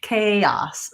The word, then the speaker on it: chaos: these words so in we have a strange spelling for the sound normally it's not spelled with ch just in a few places and then we have an OE I misspelled it I was like that doesn't make any sense chaos so the letter A in this word says